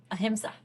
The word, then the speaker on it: ahimsa: Ahimsa.